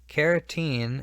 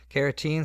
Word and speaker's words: carotene: is a waterproofing protein carotene is how I say this so I stress that it's different from keratin carotene sounds almost like carrot and a carrot is